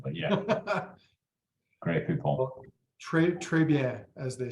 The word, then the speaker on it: Grey Poupon: I did Google it, and I will say your pronunciation is very much as I would have said it myself. Maybe slightly shorter on the final vowel, but yeah.